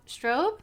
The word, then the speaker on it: Straub: on so i cheated s-t-r-a-u-b yeah but it's like strobe light is how it's pronounced i think i